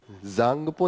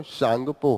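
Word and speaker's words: Tsangpo: यहाँ पे भी ये सांगपो है, ये जांगपो नहीं है, ये गलत दिया है, उसका जो प्रोनाउंसिएशन होता है वो शांगपो होता है, ठीक है।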